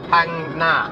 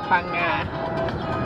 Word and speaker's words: Phang Nga: Phang Nga. Phang Nga. Huh? Phang Nga. Phang Nga. There's a letter in the Thai alphabet that's pronounced NG, yeah?